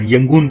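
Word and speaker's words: ရန်ကုန်: रंग का नाम बदलकर यंगून कर दिया गया दरअसल बर्मी भाषा में रोका उच्चारण यह किया जाता है हैं और वहां की ज्यादातर आबादी रंगून को यंगून ही बोलती थी इसलिए उनकी इच्छा का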